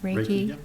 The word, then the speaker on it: Reiki: Pronounce it right, Reiki.